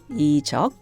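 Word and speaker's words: Lee Juck: appropriate right it's sung by the famous singer-songwriter ichalk which is spelled l-e-e-j-u-c-k in English in case anyone wants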